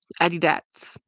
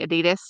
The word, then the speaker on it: Adidas: one, it's so funny because I pronounce it weird because I learned it in Thailand. Like James always makes fun of me because we always call it Adidas, and he says, "You mean Adidas?" I'm like Adidas, and it's